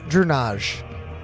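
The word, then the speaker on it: Erunaj: Uh, Dunage. Spell that.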